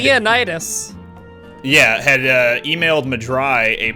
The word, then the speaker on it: Lymenaida: Like, I don't even know how to pronounce his name. It's Limonada. Liam had Leonidas.